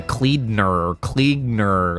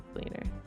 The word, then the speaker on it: Cleaner: But I always thought he pronounced it weird. It sounds like the Kleegner, like... There's like an extra consonant in there that I don't think is supposed to be there.